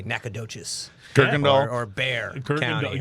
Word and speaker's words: Bexar: Kirkendall or Bear County, right? Looks like Bexar.